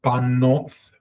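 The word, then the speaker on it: בָּנוֹת: Hebrew with you guys, I used to pronounce the tav as a T sound in English, but now it's a TH sound, it's a thav. That's the original pronunciation, as I've changed pronouncing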